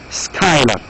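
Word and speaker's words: Schuyler: Next is Skylar. Again, this name is not easy to pronounce. You pronounce it as Skylar.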